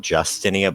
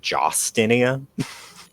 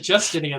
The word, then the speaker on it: Jostinia: I just noticed that her name is not Justinia, but Jostinia. Yep. Everyone pronounces it Justinia, though.